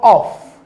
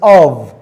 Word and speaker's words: of: In v as in of. This word is mostly mispronounced by students. It is not of, it is of.